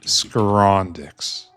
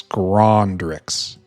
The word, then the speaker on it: Scrondrix: Is it R? Does it actually have an R? Oh, it does have an R. I thought for some reason it didn't, and I was just mispronouncing it. But it's Scrondrix.